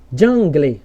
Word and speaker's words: jungle: É como se o L, ó, o L trocasse de posição com a vogal E. Então, sempre que isso acontecer aqui no final das palavras, você não vai pronunciar assim, ó, engle, single, jungle. Não, você vai trocar aqui como se o L fosse para o final.